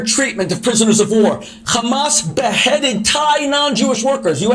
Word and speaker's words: Hamas: really they never say they never pronounce it uh like Hamas it's an H you know it's a Jewish thing people when they speak like in Hebrew a lot of the H sounds are like they use a k